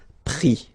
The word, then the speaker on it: pris: And then prendre, so E-N-D-R-E will give I-S, pris, okay? Same thing here, we don't pronounce the final S, okay?